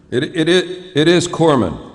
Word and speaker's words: corpsman: it is it is Corman you don't pronounce the S yeah I mean it's not very good for a guy delivering first aid to be called a corpsan like if I'm laying